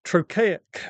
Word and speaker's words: trochaic: Trochaic is literally the opposite of iambic. So iambic is de-dum, or unstressed, stressed, unstressed, stressed. Shall I compare the two? And trochaic is the opposite, which